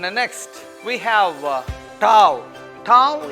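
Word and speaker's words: ταυ: Tau is pronounced like tough T. Tau. It is like pronounced like T.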